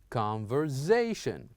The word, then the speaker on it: conversation: And the last one, here we have S and A. We would use it as Z. So we would say conversation, conversation.